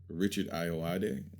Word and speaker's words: Richard Ayoade: I think that he reminds me a lot of Richard Ayoade. Yeah. You did it. I did. You said it right.